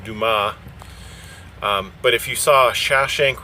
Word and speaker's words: Dumas: I was going to Dumas, pronounced Dumas. But if you saw Shawshank Redemption, then that guy calls it dumbass.